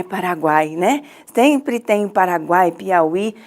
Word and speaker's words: Paraguai: nós vamos observar que quando a gente pronuncia a terceira sílaba, nós pronunciamos o guai. Então, os sons vocálicos, eles saem todos juntos. Não fica Paraguai, né? Então, é Paraguai.